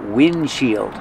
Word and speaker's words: windshield: shield together wind shield but you don't really hear the D because it's a stop D wind shield you make the position of the D but don't release D just wind shield this is the windshield